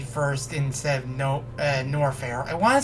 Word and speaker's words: Norfair: think I know why I keep wanting to say uh no fair and not norfair because because of words like salmon that silent L is what messes me up big time with that so yeah but there's